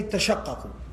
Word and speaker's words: تتشقق: You got two tas and two qafs at the end, and then one of them's got a shadda on it. It becomes very heavy to pronounce. تتشقق. So what the Arabs allowed for was that you can drop one of the tas and say tashaqqaqu.